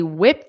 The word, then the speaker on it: whipped: some snacks okay they whipped up notice that pronunciation because again this Ed D is a soft T they whipped they